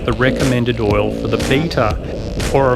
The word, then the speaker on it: Beta: recommended oil for the beta or of course beater you Americans or if you want to pronounce it in the true Italian way it is beta the manufacturer's oil recommendation